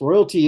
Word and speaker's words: ROYLT: Royalty is spelled RO Y LT and essentially it's an acronym for rest of your lifetime.